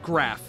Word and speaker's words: Graf: Anyway, the last part of my name is pronounced like Graf, not giraffe.